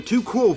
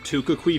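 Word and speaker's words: tu quoque: The second tactic that they love to use is the too cool fallacy. I first heard one of them pronounce it the Tukukui fallacy, so I decided to jokingly call it that for quite some time.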